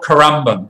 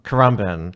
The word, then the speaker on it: Currumbin: in carbon and obviously to work on your pronunciation there just like that spawned amber band amber and we call it Caramba Currumbin they're both indigenous names are they I'm sure